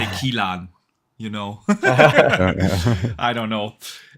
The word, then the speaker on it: Kiln: their small passion project, Kilan, or what? Kiln, yeah. Is that how you pronounce it? Yeah. Kiln? Kiln. Kiln. Kiln. Kiln. Okay. I would have pronounced it differently. In Germany, we would say Kilan, you know.